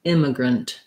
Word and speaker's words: immigrant: use either or schwa we don't do immigrant we don't you do the a vowel unstressed syllable reduced vowel so i almost do no vowel there in that last syllable so long short short immigrant grunt um i probably